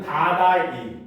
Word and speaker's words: 다달이: 그래서 우리가 매달 매달을 할 때 달달이거든요. 알겠죠? 그렇죠? 근데 우리가 실제로 적거나 발음할 때는 다달이 이렇게 하는 겁니다.